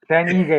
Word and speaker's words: Ige: Oh, Dan Ige.